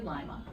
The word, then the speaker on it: Lima: to pronounce well so Lima is actually Lima oh wow and then